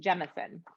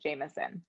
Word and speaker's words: Jemison: names and i think i pronounced her last name wrong it's jemison i think i said jamison dr may jemison is